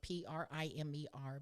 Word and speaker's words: Primer: I mean, when you go back to, it's called the Primer textbook. It's spelt like primer, Primer, but in education it's referred to as Primer.